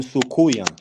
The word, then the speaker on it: soucouyant: And Trinidad, they call them Sukuya.